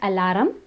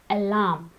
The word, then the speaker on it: alarm: have Allah it's not alarum it's alarm in all these words the R is silent the next word is